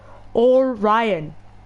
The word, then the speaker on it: Orion: Orion.